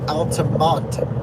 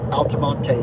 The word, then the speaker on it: Altamonte: someone comments you know you don't pronounce the e and Altamont Altamonte Springs that's so funny